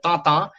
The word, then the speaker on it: Tintin: If you actually get for the French pronunciation, he's called Tintin.